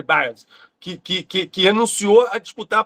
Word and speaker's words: Biles: Biles não, Simone Biles, não é isso? a pronúncia é essa, Simone Biles, que renunciou a disputar a própria saúde mental.